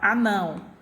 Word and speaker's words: anão: Eu coloquei o exemplo aqui para vocês, a palavra anão. Então, minha sílaba tônica, né, pronunciada com maior intensidade, não, né? Ela está na última posição, classificada como oxítona.